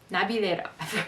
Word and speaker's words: Navilera: I looked up how to pronounce it. Navilera.